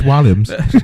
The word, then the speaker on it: Williams: No, say it correctly. It's Williams.